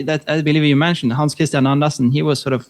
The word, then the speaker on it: Hans Kristian: How do I pronounce it correctly? Hans Kristian, how are you? Hans Kristian, yes.